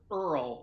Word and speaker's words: URL: vote there you go to our Earl is that how you is that how you say it yes exactly mm-hmm yes so our